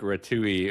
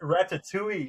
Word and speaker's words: ratatouille: Clive asks, "Is it like ratouille or is that how you pronounce it?" Ratoule. Rat ratatouille.